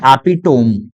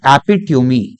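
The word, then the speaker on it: epitome: देखें तो लिखा है, पढ़ने वाले इसको बोलते हैं एपिटोम, लेकिन इसका जो करेक्ट प्रोनाउंसिएशन है वो होता है बच्चों एपिट्यूमी।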